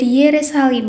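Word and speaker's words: ירושלים: Kata Yerusalem berasal dari nama ini yang diucapkan dalam bahasa Ibrani menjadi Yerusalim, yang berarti rumah suci.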